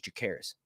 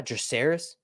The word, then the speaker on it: Jacaerys: audiobooks, how the narrator says it, which is Jacaerys. I like the way that's pronounced, actually. I'm not going to lie. Jacaerys.